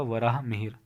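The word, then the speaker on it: वराहमिहिर: ही mayor ने और वराह मिहिर यह प्रशिक्षण इसका उच्चारण होगा वराह मिहिर के नाम याद रखना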